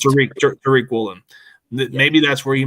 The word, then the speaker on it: Tariq: It's pronounced Tariq Woolen.